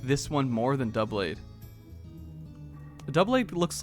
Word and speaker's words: Doublade: I pronounce it Doublade, just like double blade.